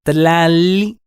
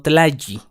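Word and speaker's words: tlalli: En el caso de la L, cuando se encuentran dos L's juntas, estas no forman el sonido Y como en español, sino que son dos L's separadas. Por ejemplo, tlali. La pronunciación correcta es tlali y no tlayi, que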